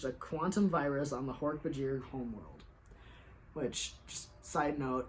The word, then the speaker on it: Hork-Bajir: quantum virus on the Hork-Bajir homeworld. Which, just side note, I used to read Hork-Bajir as Hork-Bajar. Like, I don't know why my brain read that I as an A.